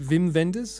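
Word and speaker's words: Wim Wenders: yeah wi wiim Wenders V is it Vim venders I suppose that's how you pronounce it he super weird though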